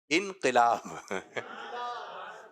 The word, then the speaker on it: انقلاب: تو کچھ لوگوں کا کہنا ہوتا ہے کیا آئے گا؟ انقلاب آئے گا. اور کچھ لوگ کہہ رہے ہیں انقلاب آئے گا. تو درست تلفظ ہے انقلاب.